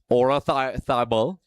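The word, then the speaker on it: Oyarzabal: So, Ora Thabel, apparently that's a proper pronunciation.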